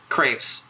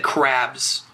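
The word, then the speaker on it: crêpes: Crepes. You said crabs, like the crustacean.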